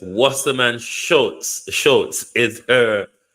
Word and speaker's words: Wasserman Schultz: I think somebody sent me the pronunciation. Let me listen. Okay, so it's Wasserman Schultz.